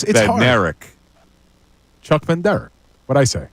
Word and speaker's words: Bednarik: It's Bednarik. B-E-D-N-A-R-I-K. Yeah, you said Ben Derek. I'm not hearing the difference. No, actually, keep going. This is a good back and Hold forth. a Here. second. You pronounce it, Mike. Then you pronounce it, Bill. Mike, you pronounce it, then Bill. Bednarik. Chuck Ben Derek. You keep saying Ben Derek. Chuck Ben Derek. It's not Ben Derek. It's B-E-D-N-A-R-I-K.